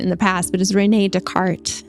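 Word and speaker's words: René Descartes: the past but is Rene Descartes it's spelled this cartes but he is French so it's Rene Descartes he stated that the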